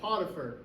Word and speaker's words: Potiphar: what his position was and his name was potier you can find it right there in the Bible but it's spelled p o t i p h a